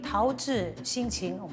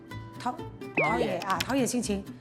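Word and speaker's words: 陶冶心情: the programme when it aired Once, I said "taozhi xinqing" (cultivate the mind) My brother phoned me as soon as he saw "What do you mean 'taozhi xinqing?'" What was he trying to say? It's pronounced "taoye xinqing" He went, "Don't you know there's a difference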